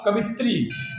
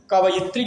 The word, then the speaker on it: कवयित्री: video बनाते समय तो बच्चों ने कहा की कवित्री लिखा है कब स्त्री लेकिन हमारे बच्चे उच्चारण सही एन करके ध्यान से ना देख करके का रहे हैं कब स्त्री को कवित्री और लिखते भी हैं तो गलत है इसको भी कवियत्री लिखा जाए और इसका उच्चारण कवयित्री ही किया जाए अगला है माता बहुत